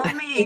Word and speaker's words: Wilmi: So today we are talking to Wilmi. Am I pronouncing that? Yeah. Wilmi.